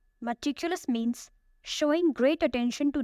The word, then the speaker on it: meticulous: The first word is meticulous. Meticulous. It has 4 syllables. Meticulous. The stress is on the second syllable. Meticulous means showing great attention to detail, very careful and precise.